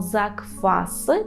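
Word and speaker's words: zakwasy: буде закваси закваси тут Зверніть увагу на вимову Ми кажемо закваси так пишемо букву в але вимовляємо F закваси закваси наприклад вчора і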